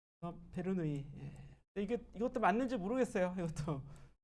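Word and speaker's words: Bernoulli: 실로 바로 가도록 하죠 베르누이 베르 누이요 이이 두 개 있으니까 베르 리가 아니라 얘는 자기네 나라 발음대로 해줘야겠지 그죠 불어 불어로 읽는 거예요 불어 예 스위스 사람이니까 불러라고 이게 베루 눌리 이러면 안 된다 안 돼요 여러분 이름을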